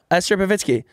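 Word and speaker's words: Esther Povitsky: Yeah, Esther Pavitsky.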